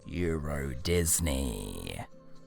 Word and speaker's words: Euro Disney: Turns out they read the sign wrong, and Eurosdeny is actually pronounced Euro Disney.